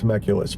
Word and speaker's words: Telemachus: to Penelope, right, and it's Telemachus, but you didn't. I think that's how you say it. Okay. I've heard it pronounced different ways, but it was rewarding when he did.